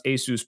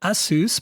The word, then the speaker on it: ASUS: all of this stuff, I learned how to pronounce ASUS properly on my first day of the job when HR correct. So, that's the other thing that I tend to call it ASUS, but some people say ASUS and you're the pro.